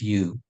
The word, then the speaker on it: HU: So we move on to the sound of soul, and for us, it's the sound of you, H-U, and it's pronounced Y-O-O.